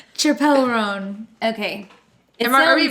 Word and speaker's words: Chappell Roan: Is that how you say it, or is it Chappell Joan? I think it's Chappell. Oh, Chappell Roan.